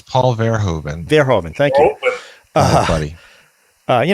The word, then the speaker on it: Paul Verhoeven: from a lot of paul bohr heaven i don't know before he you like to know how to pronounce it because these dudes happy to tell you paul's his name is paul verhoeven thank you buddy uh